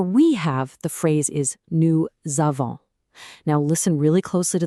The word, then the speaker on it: nous avons: have the phrase is new zavon. Now, listen really closely to the pronunciation because this is a big one. New zavon. Did you hear that little z sound in there?